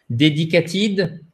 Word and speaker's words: dedicated: Dedicated. Dedicated. OK. Dedicated. OK. Dedicated. Dedicated. Oh, so the stress is on the first syllable, right?